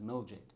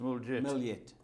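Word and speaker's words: Mljet: yeah, it's ML Jet in the race card, but pronounced Miljet. Miljet.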